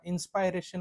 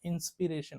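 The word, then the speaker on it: inspiration: एन जर जोडला तर त्याला इन्सपायरेशन म्हणत नाही त्याला इन्सपिरेशन म्हणतो काय म्हणतो इन्सपिरेशन सो कुठल्याही शब्दाला मूळ शब्दाला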